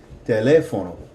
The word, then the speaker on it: teléfono: Now, notice that the second E has the stress on it. And so we're going to put more emphasis on that vowel than the preceding vowel. So, teléfono.